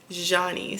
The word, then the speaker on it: Nycee: So, if you guys heard me say it, it's Johnny's. So there's a little, you know, French accent at the beginning and then it's just niece at the end.